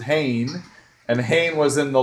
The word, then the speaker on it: Hayne: with a Kane and Kane rhymes with Hayne and hanne was in